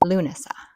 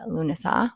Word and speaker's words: Lughnasadh: But according to Google, it's Luna, which is my daughter's name, and then Sa.